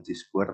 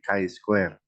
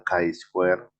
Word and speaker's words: Chi-square: Pertama, bacanya bukan Chi-square tapi Chi-square. Jadi ini Ya Pak. apa namanya pronunciation untuk uji statistik ini adalah Chi-square.